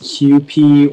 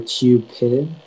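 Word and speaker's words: Kewpie: Yeah, so it can be pronounced QP or Cupid, but I think QP, that's the main pronunciation.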